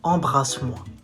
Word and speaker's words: embrasse-moi: You say embrasse-moi. Bras, not bra, not bra, bras, bras. Embrasse-moi. Embrasse-moi.